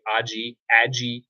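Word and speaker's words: ají charapita: The ahi charapita, I believe that's how it's pronounced. Some people might say aji, ahi charapita pepper plant.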